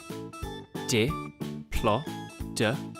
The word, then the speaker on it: Diplodocus: Diplodocus.